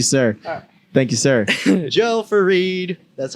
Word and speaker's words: Fareed: Joe Fareed. That's how you pronounce it, right? Fareed?